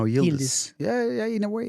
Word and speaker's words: Yildiz: So So the Z is pronounced S. no, Yildiz.